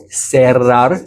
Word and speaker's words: cerrar: And then the R doble, the double R, cerrar. This is when there's two R's. That's when you truly do. That's when you're supposed to roll it. Cerrar, zorro. So that's how you pronounce the double R's.